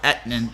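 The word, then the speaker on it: Etienne: be that guy but travis last name is pronounced aetnan okay sorry i'm terrible with names it's so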